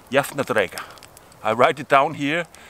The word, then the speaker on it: Jafndægr: also spring, but Vár, and that is called Jafndægr.